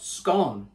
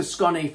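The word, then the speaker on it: Skåne: accent on the a are you sure it's not scone scny well we know it's scunny because this guy just stopped to talk to us and he gave us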